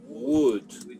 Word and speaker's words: would: And pronunciation. Would.